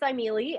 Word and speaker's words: Thymele: Yeah, so it's pronounced Thymele, and the word is actually Greek.